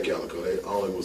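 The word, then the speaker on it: Kaliko: pronouncing your last name how do you pronounce that Calico Calico around the world everybody says cico yeah yeah I was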